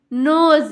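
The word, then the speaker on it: nose: है ओ होता है और लास्ट में ई का जो है ना ई का अपना कोई उच्चारण यानी कि साउंड नहीं होता है जैसे यहां पर देखिए एन ओ एस ई नोज यहां प देखिए ई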